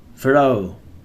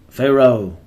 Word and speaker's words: pharaoh: Christian era BCE before the Christian era 21 pharaoh pharaoh Fe Rao or FEI row Pharaoh a ruler